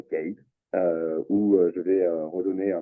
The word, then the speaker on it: Kyiv: Après Lviv, je suis allé à Kiev. Kyiv. Bon, j'ai appris à mieux le prononcer maintenant. Kyiv.